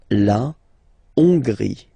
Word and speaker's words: Hongrie: So remember, H doesn't exist, so you don't pronounce it. So it starts with O-N, on, and then gris. Final not pronounced. La Hongrie.